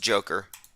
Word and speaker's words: Dzhokhar: Boston bomber Dzhokhar Tsarnaev, if I'm pronouncing that correctly, said that reading a It's pronounced Joker.